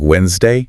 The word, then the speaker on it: Wednesday: Okay, so the first big one is Wednesday. I think a lot of learners try very hard to pronounce that first D. They do, but in natural speech, it's almost always silent. It just sounds like Wednesday.